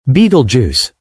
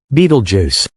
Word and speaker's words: Betelgeuse: Betelgeuse. A giant nearing the end. One of the most captivating and mysterious celestial events of our time revolves around a single, massive, dying star, Betelgeuse.